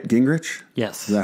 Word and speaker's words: Gingerich: Gingerich? Yes. Is that how you pronounce it?